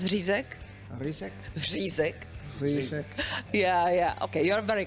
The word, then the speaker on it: řízek: okay I was gonna ask him to say zizak you know can you pronounce rizac yeah yeah okay you're very close that's good